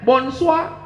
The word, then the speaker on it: bonsoir: Tulisannya bonjour. Bacanya bonjour. Tulisannya bonsoir, bacanya bonsoir.